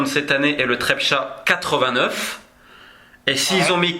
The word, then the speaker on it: Trepča: un événement en 89 dans les mines de Trepča, je dois peut-être mal le prononcer, Trepčin, j'ai un doute. Non, c'est très bien, Trepča, c'est bien.